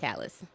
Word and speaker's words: Calles: it's Calles.